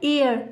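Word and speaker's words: heir: जहाँ पर हमारा एच साइलेंट रहता है और फिर उसके बाद जो हमारा स्वर है, जो हमारा उच्चारण निकल रहा है वो स्वर में है, वॉवेल में दिया गया है, तो उससे पहले हम एन का प्रयोग करेंगे ना कि ए का।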